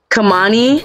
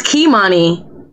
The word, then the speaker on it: Kimani: And it's Kimani. I'm saying it wrong. Kamani? It's Kimani.